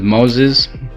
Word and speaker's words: Moises: the shape so um my name is moses it's spelled m-o-i-s-e-s but i'll take the